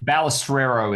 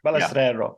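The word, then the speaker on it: Balestrero: Manny Balisero is the way it's pronounced. Balisero. Okay, I should get that right because it's anal it's an Italian name.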